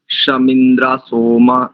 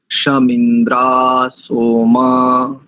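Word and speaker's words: शं इन्द्रासोमा: गंभीर स्वर संकेत करेंगे एक तो शम इंद्रा सोमा नहीं ऐसा नहीं श इंद्रा सोमा ऐसा एक और एक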